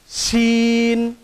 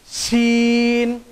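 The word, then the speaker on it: شين: এই হরফটির উচ্চারণ হবে জিহ্বার মধ্যখান উপরের একেবারে সরাসরি তালুর সাথে সম্পৃক্ত হয়ে হরফটির উচ্চারণ হবে শিন।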